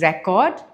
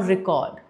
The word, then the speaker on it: record: The difference is the stress on the syllable. When I say record, the stress comes on the first syllable. And why is that the case? Because in record, it's a noun. And in noun, we put stress on the first syllable. Whereas record, it is an action, it's a verb. And when it comes to verb, we put the stress on the second syllable.